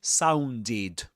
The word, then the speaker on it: sounded: So we pronounce this as sounded, sounded. So these are two rules for regular verbs in the simple past in English.